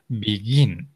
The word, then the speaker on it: begin: The stress is on the last syllable, okay? Begin.